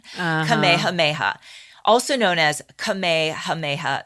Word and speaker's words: Kamehameha: with a king named give me a minute Kamehameha nice the first thank you I've been practicing that's why I was late getting on the zoom see I was practicing my pronunciation Kamehameha also known as KEH hameha the great he